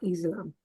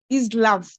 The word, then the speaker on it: Islam: about Islam. First, it is not Islam, it is Islam.